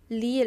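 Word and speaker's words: 리을: It's not like R or L, but they are the most similar pronunciation in alphabet, okay? So Try It's like the flick on the tongue on top of your mouth.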